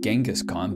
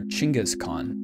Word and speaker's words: Genghis Khan: founder of the mongolian empire's name is not pronounced genghis khan but rather chingas khan around 8 percent of males in the entire